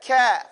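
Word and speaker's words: كاف: Kaf. Say it. Kafun, the crazy. Say crazy. Crazy. See, that's, as you say that word crazy, you're pronouncing kaf properly.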